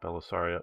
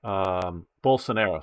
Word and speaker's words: Bolsonaro: you will, was so anti-Belisario, or however you pronounce his name, not Belisario, but I know that isn't his name. Bolsonaro, sorry, Bolsonaro.